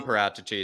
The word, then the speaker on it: Paratici: No, but it's Don Paratici is what he's saying. He's just saying his name wrong.